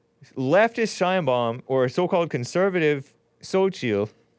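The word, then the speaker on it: Xóchitl: or the quote-unquote conservative, how do you guys pronounce this? Xochitl. X-O, Xochitl.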